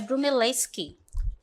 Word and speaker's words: Brunelleschi: Tenho o primeiro aqui, deixa eu só confirmar aqui a pronúncia dele, tá? É Brunelleschi.